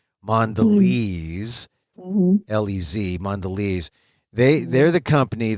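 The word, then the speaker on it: Mondelēz: m o nde l and then they have the accent over the e or not accent but the you know the the mark over the E so you know it's a long e mandes lez mandes they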